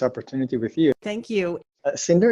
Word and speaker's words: Sinartus: with you thank you cinder is that the way you pronounce it right yes just like Cinderella and how do you